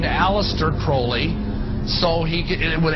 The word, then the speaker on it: Crowley: about was aliser Crawley he likes to bring have his name pronounced Crowley to rhyme with holy and uh the satanists